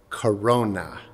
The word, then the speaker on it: corona: And that's how this saint got her name, because in Latin, crown means or is pronounced corona.